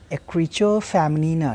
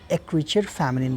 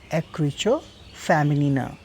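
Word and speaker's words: écriture féminine: आज हम बात करेंगे एक्रीचो फेमिनिना की। फ्रेंच टर्म है, अगर इंग्लिश प्रोनाउंसिएशन की बात करें तो एक्रीचर फेमिनिन बोलते हैं इसको, अदरवाइज़ एक्रीचो फेमिनिना, ये फ्रेंच प्रोनाउंसिएशन है।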